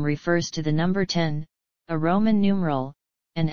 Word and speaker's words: X: the letter X in Mac OS X's name refers to the number 10 a Roman numeral and Apple has stated that it should be pronounced 10 in this context however it is also